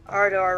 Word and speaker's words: Ardor: Ardor, rhymes with Ardor.